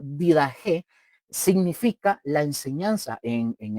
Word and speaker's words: Didaché: La didaché, mis hermanos, que se pronuncia como didaje, significa la enseñanza en en el idioma griego.